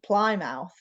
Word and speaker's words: Plymouth: does pouth mean yes Plymouth is how it's pronounced I know it looks like it really looks like ply mouth but it's Plymouth um that was one